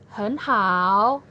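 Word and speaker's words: 很: Sehingga penyebutan hen berubah menjadi nada kedua, yaitu dibacanya dengan hen hao, hen hao.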